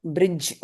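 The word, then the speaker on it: bridge: D silent கொஞ்ச நேரத்துக்கு முன்னாடி பார்த்தோம்ல. டி. பிரிட்ஜ். ஓகே. இந்த அந்த வேர்டு சார், பேட்ஜ் மாதிரி. பேட்ச் மாதிரி பிரிட்ஜ். இந்த ஓகே. டீயை உச்சரிக்க பிரிட்ஜ் பிரிட்ஜ்.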